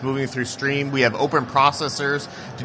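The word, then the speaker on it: Striim: We are pronounced stream is pronounced stream.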